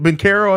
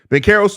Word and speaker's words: Banchero: I didn't think Banchero, I think is how you're supposed to pronounce it. I didn't have much hope for P. Will's ability to guard him in this game, but Banchero's 2 for 10 in this game.